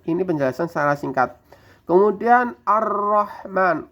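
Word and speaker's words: الرحمن: Kemudian Ar-Rahman, ro-nya fathah ini tebal. Ro fathah itu dibaca cara bacanya tebal. Fathah atau dhamma dibaca tebal.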